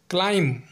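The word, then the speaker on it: climb: हमारा दूसरा एग्जांपल है क्लाइम जिसका हिंदी में मतलब होता है चढ़ना यहां भी एम के बाद बी आया है इसलिए बी साइलेंट है तीसरा एग्जांपल है कोम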